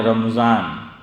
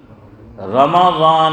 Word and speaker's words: رمضان: معاملہ ہے رمضان میں، ہم لوگ اس کو بولتے ہیں رمضان، میم پہ کیا کر دیتے ہیں؟ جزم، جو نہیں ہوتا ہضم، عربی لوگوں کو، جاننے والوں کو، تو میم پر زبر ہے، فتحہ ہے۔ دلیل سورہ بقرہ دوسرا